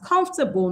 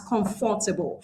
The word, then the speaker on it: comfortable: In English, comfortable is just 3 syllables because there is a natural reduction of the syllable that we have starting from the first syllable. So we pronounce it as comfortable, not as comfortable.